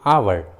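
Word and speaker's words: hour: जैसे आवर, ऑनर, honest, देखें तीनों इंग्लिश वर्ड्स में एच एकदम शुरू में है, इसलिए एच साइलेंट है, एच का उच्चारण नहीं किया गया है।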